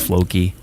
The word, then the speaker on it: Floki: Like I know, like Mel and Flocky, like because is it Floki or Flocky? I don't even know how you pronounce it. If she's referring to like the Viking lore, it's Floki.